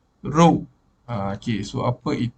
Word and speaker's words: rho: anymore this is okay the way to to to pronounce it is rule this is p pressure but p for density being known as the name of row okay so i'll put